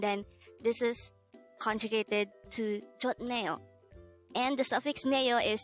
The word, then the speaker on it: 좋네요: hangout word number 258 this is pronounced as a three syllable word the first syllable is